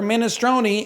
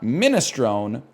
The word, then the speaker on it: minestrone: Same for Minestroni. It's pronounced minestron, not minestrone or minestone.